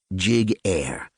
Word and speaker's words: Giguere: First of all, my last name is pronounced jig air.